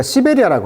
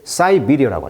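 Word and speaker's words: Siberia: 이런 죽음에 대해서도 자, 우리가 시베리아라고 하는데 영어식 발음은 이제 사이비리어라고 하죠.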